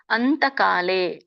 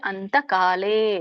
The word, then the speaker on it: ಅಂತಕಾಲೇ: ಸ್ಮರಣ್ಮುಕ್ತ್ವಕಳೇಬರಂ ಯಪ್ರಯಾತಿಸಮದ್ಭಾವಂ ಯಾತಿನಾಸ್ತ್ಯತ್ರ ಸಂಶಯಹ ಇದರ ಒಂದು ಉಚ್ಚಾರಣೆ ಅಂತಕಾಲೆ ಗೆ ಅನುಸ್ವಾರ ಇದೆ ಅಂತಕಾಲೆ ದೀರ್ಘ ಇದೆ ಚ ಮಾಮೇವ ಸ್ಮರನ್ ಮುಕ್ತ್ವ